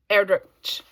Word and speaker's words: Erdrich: I was talking about this author with a friend the other day, and I've been saying ch, which would make sense. And they corrected. They said, I think it's k.